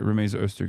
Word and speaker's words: Rumeysa Öztürk: Wait, did I say her name? I keep saying her name wrong. Okay, no, I did say it right. Rumeysa Öztürk is the person.